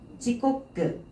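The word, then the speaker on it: 時刻: 지꼬끄, 신꼬끄, 속꼬끄, 치꼬끄. 자, 시각. 우리 시간 얘기할 때 있지지, 니지, 산지, 여지, 지라고 읽죠. 그래서 시각을 읽어줄 때는 지꼬끄예요. 지꼬끄.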